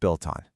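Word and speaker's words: を: The one that looks like wo is actually pronounced o, and it points to the thing getting verbed.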